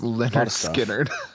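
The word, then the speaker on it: Lynyrd Skynyrd: get Leonard Skinner's debut has a lot of pronounce Leonard skinnard yep they had to name their album after a uh to help everybody pronounce their name correctly yep so uh four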